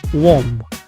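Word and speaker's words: womb: الثامنه والاخيره اللي هي ووم ووم اللي كتعني الرحم ديال المراه فيها بي في الاخير ولكن ماشي تنطقش كنوقف فقط عند الحرف ام اللي قبل بي ولا كنتي عارف كلمات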